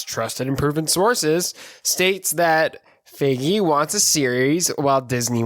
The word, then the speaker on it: Feige: pronounce his last name pretty sure we say now it's figgy okay kevin feige wants